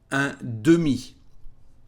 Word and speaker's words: un demi: In English is half, but in French is un demi.